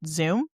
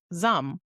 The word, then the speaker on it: Zum: My go-to is I pronounce it Zoom. Maggie told me it is Zum.